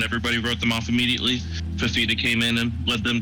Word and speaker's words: Fifita: And how do you pronounce this guy's name? Fifita? Noah Fifita. Fifita. Noah Fifita.